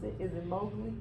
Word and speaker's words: Mowgli: I know I mispronounced it. Is it Mowgli? Mowgli.